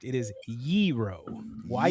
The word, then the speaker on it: gyro: It is yeero. Why y e r o? So, yeero. So, it's two syllables. The g is silent in Greek. It's not gyro and it's not gyro.